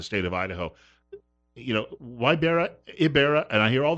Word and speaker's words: Ybarra: here in the state of Idaho you know why berra berra and i hear all that if pronunciations what which one is the correct one it's Ibarra the why makes an e sound it's Basque